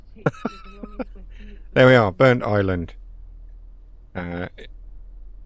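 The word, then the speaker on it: Burntisland: been saying it has burnt his land there we are burnt Island uh that's how it's properly pronounced not burnt his land as I pronounced it because there's no space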